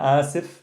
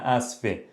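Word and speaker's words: آسف: We have ana asif, masculine version, ana asifa, but I'm going to give you the dialect pronunciation, ana asfe. So asif for masculine, asif for feminine.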